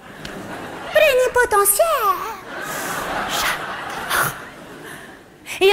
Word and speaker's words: plénipotentiaire: Plénipotentiaire. Celui-là, il a un truc génial parce qu'il s'écrit potentiaire, ça se dit potentiaire. Plénipotentiaire.